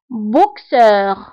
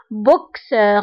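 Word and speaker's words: boxeur: بوكسور بوكسور دونك هنا اكس جات في وسط الكلمه دونك قرناها بكس بوكسور ما قبلش منها او قرناها بكس دونك بوكسور بوكسور قرات هنا بكس بوكسور.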